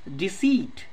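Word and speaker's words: deceit: डिसीट, डिसीट में भी देखिए स प्रोनाउंसिएशन है इसका तो ई आई लगा, डिसीट का मतलब होता है छल।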